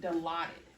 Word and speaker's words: Dilaudid: Johnny here, and he told me that he was taking Dilaudid. Dilaudid? Yeah. Oh, maybe Dilaudid, which is a opioid agonist.